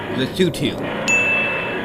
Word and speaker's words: Lesotho: It's pronounced Lesotho.